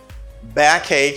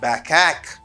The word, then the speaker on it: backache: i have a backache back ache not backhack okay it's a bad cake and not back back back cage no this ch doesn't give you arch sound it gives you a